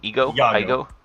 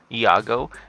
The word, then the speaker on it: Iago: Ego. Iago.